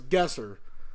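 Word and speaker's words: GeoGuessr: want to pronounce it it's guesser I don't know why the hell they have just an R there it doesn't make any sense okay so we are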